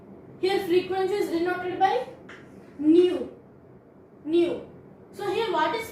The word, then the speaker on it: nu: Greek word it is also a Greek word pronunciation is new new and frequency means the number of waves travels